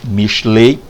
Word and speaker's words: Mishlei: Para começar, o título Mishlei, né, no hebraico aí, Mishlei ou Mishle, há quem pronuncie Mishle ou Mishlei, origina-se da raiz hebraica mashal, há quem diga mashal, tá?